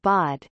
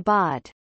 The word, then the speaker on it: བོད: The standard Tibetan pronunciation of Bod, P-O stroke, is transcribed Bo in Turnadre phonetic transcription, Bo in the THL simplified phonetic transcription and Poi in Tibetan pinyin.